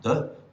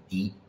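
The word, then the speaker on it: 的: This can be pronounced de, or it can be pronounced di. If it's de, then it often indicates possession, like wo de, mine. If it's di, then it appears in the word di chue, which means indeed or really.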